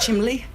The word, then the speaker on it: chimney: and she claims that she knows that chimney is spelt chimney, but it's pronounced chimley.